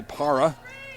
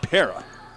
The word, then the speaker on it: Para: Ellie Para and Haley Smeraldi. And I already said Ellie's name wrong. It's Ellie Para.